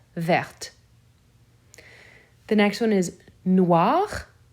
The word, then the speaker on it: verte: Because of that consonant before the E, now that T will be said. Vert, verte.